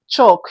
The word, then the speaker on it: chalk: Chalk, you can also see it that the L is also silent.